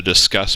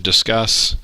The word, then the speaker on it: Disqus: to add new and type in discuss and it's spelled D qu us yes I know uh it uh looks odd go ahead and hit